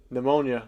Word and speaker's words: pneumonia: Pneumonia. Why is there a P? Yeah, I mean, I agree. Why is there an E in there too? Just do N-U-M. You know, pneumonia.